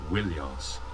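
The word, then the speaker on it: Ilios: troja and more often illios originally pronounced williams now in this general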